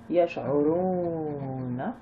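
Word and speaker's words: يشعرون: Yash'uruna. Donc le A, on ne prononce pas, on est arrivé à la fin de la ayette.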